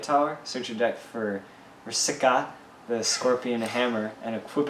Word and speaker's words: Vrska: Alright, so starting for light cards here, we got 4-drop Warden of Vrska, or Official pronunciation. Vrska.